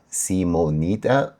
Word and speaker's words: cmon3tta: I was pronouncing it wrong all this time, but man, I do really like his music. So yeah, the project name is see-moe-net-uh. I hope I'm pronouncing it right this time.